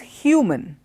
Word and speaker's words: human: which have to be pronounced distinctly they're the pronunciation is distinctly different okay so we have two words one is human H u ma n human and the other